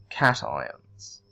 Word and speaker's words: cation: ions we call them cations okay now I realize that it looks like you'd say education because that you know like in location or vacation but we pronounce that cation we also like and